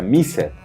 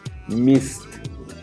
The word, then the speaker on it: missed: le agregamos una ed, pero no se pronuncia missed, sino se pronuncia, como lo dice la regla, como una t, missed, ¿ok?